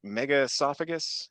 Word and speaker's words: megaesophagus: Mega esophagus. Is that how you pronounce it?